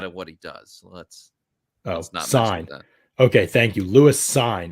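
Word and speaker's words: Cine: dsj all day uh produ pronounced sign um is uh how you say his last name so uh somebody asked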